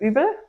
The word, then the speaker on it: Uebel: In German, you pronounce it Uebel, but that's a train wreck here.